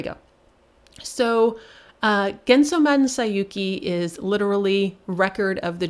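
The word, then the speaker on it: 西遊記: what you have here is they are both pronounced sayuki but one is journey to the west and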